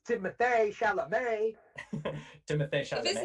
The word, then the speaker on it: Timothée Chalamet: Like, and I'll say this, Timothy Chalamet, did I say that right? Yeah, it's Timothée Chalamet.